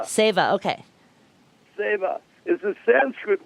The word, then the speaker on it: Seva: SCVA, but pronounced Seva. Seva, okay.